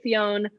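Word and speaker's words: Fionn: and his name was high king finn i'm saying finn it's spelled f-i-o-n-n cool yeah it could be fiona that sounds stupid so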